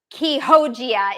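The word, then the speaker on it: Chioggia: And it's pronounced differently than it's spelled. Todd just put it how it's spelled, but it's pronounced Quijogia.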